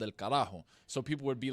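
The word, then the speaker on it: carajo: How do you spell it? C A R A J O. So Karaho, the original meaning for Karajo was on a old Spanish gallion boat, right?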